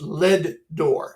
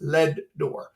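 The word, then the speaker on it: Leadore: It's pronounced Ledor. Every time I say it, everybody always corrects me. No, it's not Ledor. It's Ledor.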